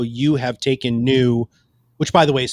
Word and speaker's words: Nyoo: deep philosophical understanding of how you have taken new which by the way is spelled n-y-o-o which i think is freaking awesome